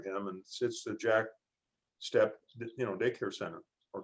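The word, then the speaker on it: Steppe: it and it's interesting the name is pronounced step because we do provide a step in the right direction because of him he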